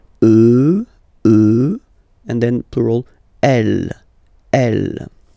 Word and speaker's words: eux: Remember, final x not pronounced. E, e, and then plural elle, elle.